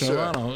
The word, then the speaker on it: Stravato: Stravato, yes, Stravato.